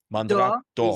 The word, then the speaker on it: Mandrake d'Or: So J'adore Dior is the fashion Mm-hmm. brand, but the Mandrake d'Or, it's the D'or. golden Mandrake. Mandrake D'Or is d'or.